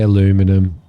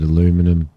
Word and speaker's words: aluminum: Oh, I did have somebody go ballistic at me because I pronounced it aluminium. Because they say aluminum.